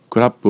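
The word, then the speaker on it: ครับ: 女性用である男性用のクラッのプはほとんど聞こえない程度のつまりと思って発音語尾を上げて発音する女性用の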